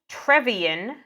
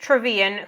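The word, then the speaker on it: Trevean: uh so we meet trevian Tran how was it pronounced travan yeah we meet travan who's kind of their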